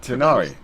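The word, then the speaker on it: Tighnari: I'll leave any further Tegnari, details to Kale. Tignai. I had no idea how it was pronounced. Yes, you can count on me. You know, it's just pronounced Tenari.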